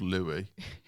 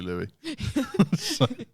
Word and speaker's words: Louis: Well, they all need to know that they're called Louie.